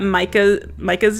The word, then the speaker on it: Micah: I know I got Micah's name wrong. I thought it was Mika and it's Micah.